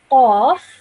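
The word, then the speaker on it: ق: is this over here, some some students might pronounce these both the same, but we need to now realize that both of these are pronounced differently. This over here is a thick sounding letter. This is a thin sounding letter. So this would be said as qaf, and this would be said as kaf.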